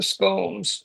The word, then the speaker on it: scone: Still not at the gel point, and we're still 7 to 10 minutes away of the scones, the blueberry scones.